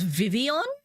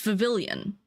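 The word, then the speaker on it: Vivillon: Um, and Vavilion was Vivian as in like the L's were silent, which like I kind of get the region's based off France, but like it's Vavilian.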